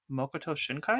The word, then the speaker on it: Makoto Shinkai: is by Makoto Shinkai.